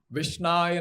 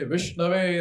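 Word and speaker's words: विष्णवे: So they might say, Vishnaya namaha, And the ones who know how to pronounce Sanskrit, they will say Vishnave Namaha.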